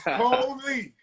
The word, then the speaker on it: Colie: Hope everybody make sure you pronounce his name right. His mom is gonna kill you. His name is Colie.